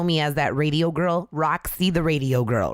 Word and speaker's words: RaqC: __ ] yeah so how do you spell Roxy I spell it R AQ for my first name which is in Spanish and then my last name starts with the C so it's r a q c it's not that hard